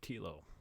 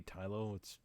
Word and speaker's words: Tilo: If you've read those books, in this game you assume the role of Tilo. I think it's Tilo. It could be Tylo. It's spelled like Milo, so I assume it's pronounced like Milo.